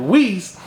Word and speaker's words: Wiese: make some noise right now for Miss Wiese. Did I say it right? Did I say you Wiese? did. You nailed it. Got it. Said it right? Wiese, yes.